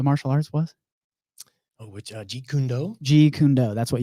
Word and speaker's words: Jeet Kune Do: before you were graphic designing, before all this pronounce what the martial arts was? Oh, which Jeet Kune Do?